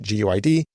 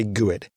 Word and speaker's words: GUID: Some people pronounce it GUID. Some people say GUID.